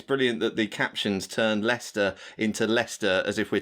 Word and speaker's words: Leicester: Also, Emily, your good wife, would like to make sure you pronounce it Leicester from now on. Correct. Okay, sorry. That's a good point. Leicester.